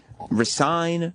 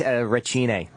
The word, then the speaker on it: Racine: Well, because I didn't know if it was Recine, Racine, Racine. Racine. It's a strong name. It's like Italian or something, right? What is that? Yeah, it's Racine. It's Italian pronunciation.